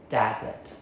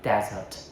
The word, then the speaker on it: desert: As a noun, a whole dry place with sand. First syllable. Desert. Okay, read after me. Dazz it. Great. So, camels live in the desert. As a verb to leave or abandon someone. Second syllable, desert. Dessert.